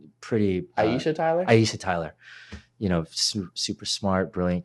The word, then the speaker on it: Aisha Tyler: I think Alicia Tyler. No, wait, am I saying her name wrong? Pretty. Aisha Tyler.